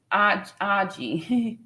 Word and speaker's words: RG: yes and RG says my name is pronounced Aji yes thank you so much